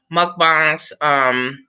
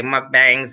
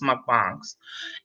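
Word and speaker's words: mukbang: these people that do these mcbarns and that's the way it's supposed to be pronounced must be a lot of people say my bangs and all that except but it's my bongs and they are eating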